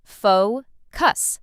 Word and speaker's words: focus: Some learners put the stress in the wrong place, but it's simple. Faux cuss. Stress on the first part.